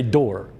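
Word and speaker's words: Doré: I think the French say door because it's got that little accent mark over the E.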